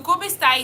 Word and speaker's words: come stai: So come stai is two words, how are you? Come stai, how do you spell it?